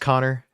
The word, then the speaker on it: Connor: Oh, is that pronounced Connor?